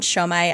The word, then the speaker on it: Siomai: Whenever I write my name down, Siomai, S-I-O-M-A-I, I usually include the pronunciation next to it, and it's pronunciation. Show, the word show, S-H-O-W, dash my, M-Y.